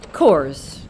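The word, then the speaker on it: Coös: I did not take into account the umlaut on the second O of the trails. I believe it's pronounced Coors.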